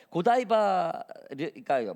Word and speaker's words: 고다이바: 배우는 그런 시대였죠이 주인공인 고다이바 어떤 사람은 얘기하고 다 틀리게 얘기하죠 저는 그냥 고다이바라고 읽겠습니다 한국 발음으로이 스토리는 11세 얘기에요 앞으로